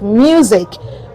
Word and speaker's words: music: But in some cases, the letter S has the Z sound. Okay, we have examples in words like music, rose.